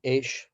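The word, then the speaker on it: אש: And they're called Eish, Mayim, Ruach, Ofar. Eish is spelled Aleph Shin, Eish.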